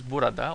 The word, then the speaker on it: burada: Here is burada or burada. We usually spell it this way, but we don't pronounce the a.